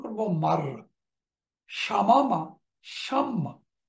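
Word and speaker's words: شمّ: মারারা আমরা উচ্চারণ করব মাররা। শামামা, শাম্মা।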